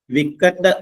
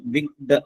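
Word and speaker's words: wicked: ഡബ്ല്യു ഐസി കെ ഇഡി വിക്കഡ് എന്ന് ആൾക്കാർ ഉച്ചരിക്കും പക്ഷേ അതിന്റെ ശരിയായിട്ടുള്ള ഉച്ചാരണം വിക്ഡ് എന്നാണ് വിക്ഡ് വിഗ്ഡ് എന്ന് പറഞ്ഞാൽ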